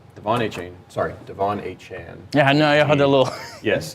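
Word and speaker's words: Achane: you can really start anybody now here's the thing though the money chain sorry Devon a Chan yeah yes Devon has requested that people Now pronounce his name achan after having a 200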